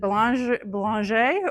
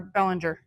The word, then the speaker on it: Bellinger: And he was inspired, and I have to admit, I don't know, did he pronounce it the French way or is it Belanger or Bellinger? Okay, the White Bear way.